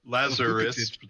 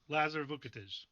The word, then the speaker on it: Lazar Vukotic: Can you say it's Vukotic, but Lazarus Vukotic. just without the S Okay. at the end. Lazar Vukotic.